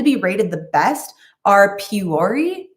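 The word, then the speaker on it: Puori: rated the best are puree i think that's how it's pronounced like p-u-o-r-i um the one problem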